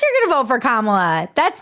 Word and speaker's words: Kamala: way white ladies for kamla and everybody who supports her learn how to pronounce her name we did first you say comma like a common sentence then you say la like la la la la la when she